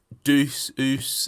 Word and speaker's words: Deuce: And it is Juice Studio, or at least that's how I say it.